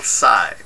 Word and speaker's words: Tsai: of Photoshop by Will Tsai. And I'm hoping I'm pronouncing it right. Usually with the names that have TS, the T is silent.